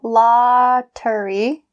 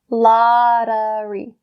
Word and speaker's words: lottery: So instead of saying lottery, because that T sound again is in between two vowels, we'll say lottery. The d sound, lottery.